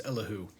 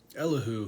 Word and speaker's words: Elihu: afflicted him enter elihu i had to look up how to pronounce his name because i wasn't sure and and the little little like eyeless robot face on google told me it was elahu so i'm gonna go with that but uh this guy